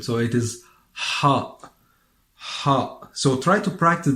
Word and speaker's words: ح: Ha. So it's not ha, it's ha, ha. And this letter, it's pronounced in the pharynx. The pharynx is an area that is at the beginning of the throat, or at the opening of the throat.